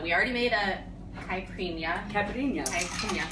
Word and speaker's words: caipirinha: Caipirinha.